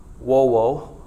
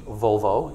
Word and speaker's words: volvo: It's another Latin word, wovo, if you use the classical pronunciation, volvo, if you use the ecclesiastical pronunciation, means to roll.